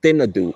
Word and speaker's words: Thinadhoo: experiences this island right now again it's called thadu it is spelled t h i n a d h